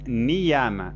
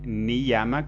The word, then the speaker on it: niyama: Y cuando está al medio de una palabra, en el interior, ahí sí se pronuncia I. Entonces, niyama. Ahí sí es correcto decir niyama con I y no niyama.